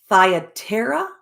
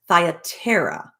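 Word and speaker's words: Thyatira: a cello of purple of the city of thyatera i believe that's how it's pronounced thyatera who which worshipped god heard us whose heart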